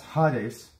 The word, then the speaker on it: Hades: If you want to know how it's pronounced, it's Gehenna. And we got Hades. And that's Hades.